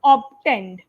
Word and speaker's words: obtained: the word obtained correctly there was a fur sound when you were trying to say obtain that's why I was hearing often or often so just it was obtained okay obtend okay obtained